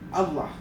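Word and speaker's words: الله: lupa tasdid bacanya illa dan Allah itu juga pakai tasdid Allah dan jangan ditambah Hamzah seperti la la la ilahaallah itu tidak boleh itu tidak dibenarkan atau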